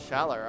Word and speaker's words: Schaller: My name is Shala. Schaller. All right, we got the definitive pronunciation. Yeah, Schaller.